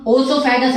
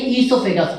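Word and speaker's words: oesophagus: और food pipe का ही दूसरा नाम ओसोफेगस नहीं, ईसोफेगस, ओ साइलेंट है, ईसोफेगस।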